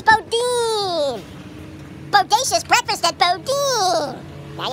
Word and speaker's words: Boudin: yummy one last thing how do you pronounce Bodin Bodin bod Bodin thank you Bodin it's Bodin Bodacious breakfast at bod